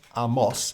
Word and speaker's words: Amos: ways now but um apparently it's pronounced Amos in Hebrew but I think we should only say Amos if we're trying to be pretentious okay let's go for